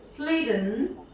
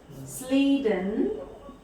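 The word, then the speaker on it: Schleiden: In 1838, scientist Sleeden, CH is silent, Sleeden, a German botanist, So in 1838, Sleden, the German botanist, sorry, I think it is, I'm sorry, just a moment.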